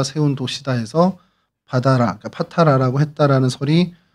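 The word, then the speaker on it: Patara: 어, 이것이 이제 헬라어로는 파타라고 이제 발음을 하는데 이제 우리 성경에냥 바다라고 어 기록이 돼 있습니다.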